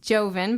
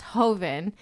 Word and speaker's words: joven: much younger Vine so it looks like it's pronounced Joven but I'm assuming it means or it's pronounced Hoven and it means the young wine in Spanish